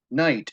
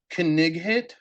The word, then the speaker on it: knight: And when you come to things like knight, as in Knights of the Round Table, and you say Knighthit because you're sounding it out, Yeah. it doesn't work as much.